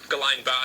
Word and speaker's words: Guillain-Barré: Aw, here's how you pronounce it. Guillain-Barré Guillain-Barré syndrome Guillain-Barré syndrome Guillain-Barré syndrome Well, now I'm having a seizure.